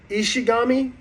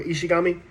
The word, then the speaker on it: Ishigami: name is senku is ishigami I believe that's how you say it like Shinigami or ishigami and so then the next